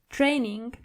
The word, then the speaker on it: Training: And again with the word training. The German version of it is training. So you only have to roll your r.